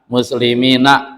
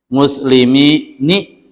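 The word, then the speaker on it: مسلمين: asin na semuanya fathah faqatq bikasrihi tapi sedikit sekali ada orang arab dan ini sedikit yang membacanya kasrah sehingga mereka membacanya muslimun muslimini gitu dan itu sedikit itu Ya, ada dalam syair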